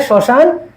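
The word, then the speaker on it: শ্মশান: ধাক্কা সবার শেষে হসন্ত ঠিক একইভাবে শশান কি এগ মফল মফলার কি কোন মফলা পরিবর্তিত হয়ে যাবে উচ্চারণ হবে না তাহলে শশানও কি এটা অনেক কমন শশান তাহলে কি হয়ে যাবে সান ম ফলার উচ্চার মফলা ম উচ্চারিত হবে না শশান তারপরে দেখ শব্দের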